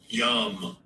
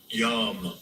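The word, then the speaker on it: ים: Yam. Yam.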